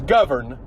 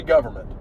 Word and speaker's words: government: Do people actually pronounce the N in government? Because it's government. Nobody says that. People say government. People just forget the N even is it.